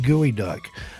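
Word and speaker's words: geoduck: And I'm being informed by the chat that it's pronounced gooey duck.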